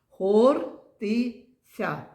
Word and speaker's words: Хортиця: Хортиця. Правильно, три склади. А давайте погукаємо це слово гортиться. Давайте ще погука. Гортиця. Дітки, який тут склад наголошений буде? Правильно, перший. А який звук тут наголошений? Ортиться. Звук О.